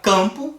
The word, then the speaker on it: campo: Ninguém pronuncia esse M aí na hora do não dá. Ele vai campo, como se fosse um fonema ali com um A nasalizado ali com um tio em cima dele.